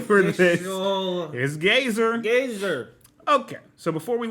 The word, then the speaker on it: Gazer: Okay, Marisha Ray said Gazer. So Yep. the official name for this is Gazer.